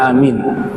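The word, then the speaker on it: آمين: Jadi kalau mau baca amin itu ee kalau mau lihat harakatnya itu sebenarnya di akhirnya fathah amina ya. Nah, sebagaimana tertulis di Sahih Bukhari ini amin kita bacanya amin karena wakaf.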